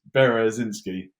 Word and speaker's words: Berezynskyj: It's actually really easy. It's Berezynskyj. It's just got a J on the end as well because why wouldn't it? Berezinski. That's it, Berezynskyj.